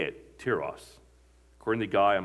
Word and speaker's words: Tiras: That's how you say it, Tiras, according to the guy on my phone that reads the Bible.